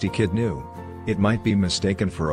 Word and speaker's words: Echidna: The echidna is a native of Australia and New Guinea, pronounced echidnu.